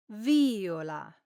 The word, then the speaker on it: viola: Viola, viola, Or should you say viola, viola, well, in this case, the correct pronunciation is viola. as I just mentioned, this is another example where stressing the wrong syllable gives you the wrong word.